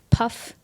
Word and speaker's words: PUF: Yeah, I also was a big PUF, that's what we call it in Missouri, public forum. Yeah, yeah. PUF is 1 syllable, PF is 2.